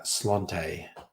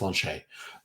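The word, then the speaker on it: sláinte: where it's written s-l-a-i-n-t-a which looks like uh slante or a slant or slate slanted but it's pronounced launch a mega leech excellent question which is cheaper this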